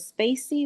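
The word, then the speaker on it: spaCy: Is it Spacey?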